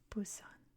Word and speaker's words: Busan: spelled with the p I know it's Busan right it's a soft BP sound but I've always seen